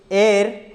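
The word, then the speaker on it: heir: next है, ही इज एयर, इसको ए पढ़ते हैं दोस्तों, क्या पढ़ते हैं, एयर, एच यहाँ पे साइलेंट हो जाता है, इसको भी पढ़ते हैं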